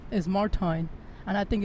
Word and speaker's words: Martijn: of mine, right, whose name I've been wrongly pronouncing for many years. I've called him Martijn, but that's not his name. The real way to pronounce his name is Martijn, and I think it's not, but